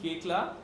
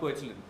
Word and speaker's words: Koechlin: And yes, that is how you pronounce her surname. Koechla. Yeah. Koechlin, and not Koechlin.